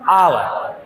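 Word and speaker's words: hour: क्योंकि लिखते हैं हावर और उच्चारण क्या करते हैं? आवर। तो थोड़ा नाक बंद करके बोलेंगे आवर। आवर मतलब कोई दिक्कत नहीं।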